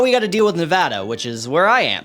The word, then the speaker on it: Nevada: which is what people outside of Nevada think Nevada is pronounced it's not Nevada it's Nevada okay so now we have all this leftover